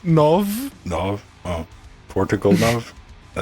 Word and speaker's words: nove: How's the 9 pronounced in Portuguese? Nove.